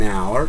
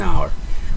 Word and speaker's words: hour: Por ejemplo, aquí tenemos an hour. Miren que aquí no se pronuncia la H. La H es muda. An hour. O sea, es como si realmente iniciara con una O. An hour.